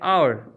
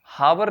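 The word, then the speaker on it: hour: यहां एच फिर साइलेंट है, हावर नहीं है, साइलेंट है।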